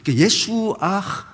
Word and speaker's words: 예수아: 때 예수와 이렇게 하는데 히브리인들에게 물어보면 유대인들 이걸 정확히 알아요 예수와 예수 예수아 예수가 맞는 거죠 하는이 발음이 들어갔다이 말이 우리는 예수아 이렇게